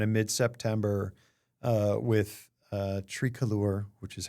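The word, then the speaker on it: Tricolor: And I mean in just the last couple of months, so starting in kind of midepptember uh with uh Trialure, which is how it's pronounced, although it sounds very pretentious, um with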